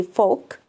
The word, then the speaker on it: folk: which folk of course the L is silent so we say folk okay be be careful